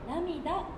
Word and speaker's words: 涙: この曲は波に雫と書いて涙と読むタイトル